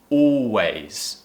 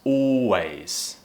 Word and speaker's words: always: So tall or always, always.